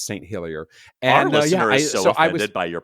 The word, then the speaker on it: St. Helier: Did you know that the capital of Jersey is St. Helier or probably Selier?" No, no, they speak English there. Never mind. It's St. Hillier.